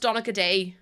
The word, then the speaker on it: Donegal: Oh, the one I sent is pronounced Donegal.